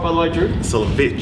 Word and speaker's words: Solewicz: macabi Drew solo is with us do I pronounce that right by the way Drew solich solich is it yeah I Stumble over Smith mate